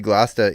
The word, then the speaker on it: Gloucester: pronounce uh session Poland uh Gloucester or I guess I guess that would be glasta England because it's spelled exactly the same uh lanced in Australia